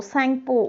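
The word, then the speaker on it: Tsangpo: एन जी पीओ बट टी इज a silent letter here so we just pronounce it सैंपो सांगपो उधर से start होता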